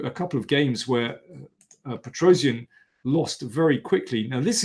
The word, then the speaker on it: Petrosian: game where Spassky defeated Petrosian, or as someone pulled me up on my pronunciation of Petrosian, Tigran Petrosian, for the authentic pronunciation.